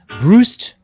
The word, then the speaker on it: Brust: spelled like the word juiced, but pronounced like the word boost.